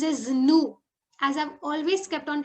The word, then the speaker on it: nous: We is pronounced as nous. As I've always kept on telling you, in French, normally we do not pronounce the last consonant. So here we are not pronouncing the last S.